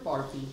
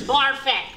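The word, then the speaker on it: Barfée: Barfy. It is still pronounced Barfet.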